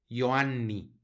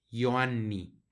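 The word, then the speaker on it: Ioanni: a encontrar con pero siempre la J va a sonar como una y no la pronunciamos como la J en español y luego Aquí tenemos una doble n que como les digo la vamos a pronunciar no la pronunciamos como si fuera una sino que hacemos un énfasis para que suenen las dos yoani yoani así se pronuncia esta palabra que significa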